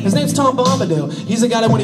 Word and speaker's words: Tom Bombadil: His name's Tom Bombadil.